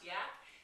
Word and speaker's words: UAC: something called your Yak your UAC pronounce Yak stands for Unique appeal